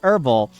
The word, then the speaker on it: herbal: to do it but herbal is pronounced herbal yeah yeah thank you